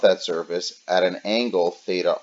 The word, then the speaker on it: theta: surface at an angle theta R where theta I is equal to theta R for those of you maybe can't hear exactly the the way you pronounced this symbol is Theta and it's spelled at